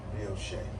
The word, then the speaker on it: brioche: I'm pretty sure it's pronounced brioche. That's French.